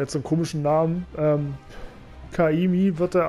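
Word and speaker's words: Ka'imi: Kaimi wird da ausgesprochen, aber das sind wohl 30 oder was weiß ich, 31 Buchstaben.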